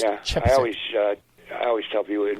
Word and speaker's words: Chepesiuk: It's Chepesiuk, but it's pronounced Chepesiuk.